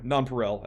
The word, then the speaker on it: nonpareil: I looked up how to pronounce this one. In English, it is Nonpareil.